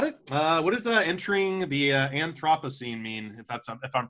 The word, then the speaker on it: Anthropocene: What does entering the Anthropocene mean, if I'm pronouncing that correctly? It's called the Anthropocene. Anthropocene.